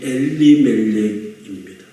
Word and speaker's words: 엘리멜렉: 먼저 나오미의 남편인 엘리멜렉입니다. 엘리멜렉은 엘리멜렉입니다. 정확하게 발음하면요.